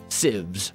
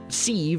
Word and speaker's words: sieve: And then I added, there are 32 sieves right here. And by the way, for the record, it is pronounced sieve. Look it up, Google it. Stop telling me that I'm pronouncing sieve or sieve, and that it's wrong and that you're triggered,